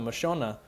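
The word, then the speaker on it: Mashona: focus specifically on the machona. Uh and I have to say it like that because I've been corrected by people from Zimbabwe. It's not Machona, it's Machona.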